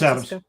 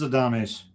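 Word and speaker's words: Adames: I want to say Adams, so it's probably a Dame by the way it's spelled. That's Adams. Yay! Actually, no, it is a Dame. It is a Dames.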